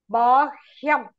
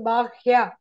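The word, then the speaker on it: बाह्य: So, Bahya. Bahya Pratanam. Then, Prahladashasmi Daityanam. Whenever you have ya, va, and la, please, the ha should be pronounced first.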